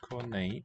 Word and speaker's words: konijn: Konijn. IJ is A in sound.